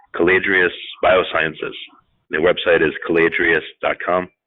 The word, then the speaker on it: Caladrius: a company called caladrius Biosciences the website is caladrius calm it's spelled Cala dr i us thanks for coming